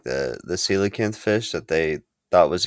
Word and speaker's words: coelacanth: It's coelacanth, but it's like it's spelled COEC.